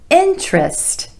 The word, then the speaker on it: interest: already been several hours number six interest interest not interest interest with emphasis on the first syllable and the vowel sound is interest no interest I have no interest in that so of course this